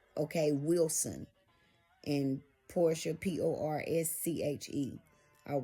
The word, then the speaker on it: Porscha: about that Porscha DL is spelled like it's pronounced like that. DE and then dash L. Okay, Wilson. And Porscha, Porsche.